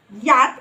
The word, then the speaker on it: yacht: Also here letter CH silent in this word yacht or yacht بالأمريكان والبريتش ومعناها يعني بالعربي اللي هو يخت.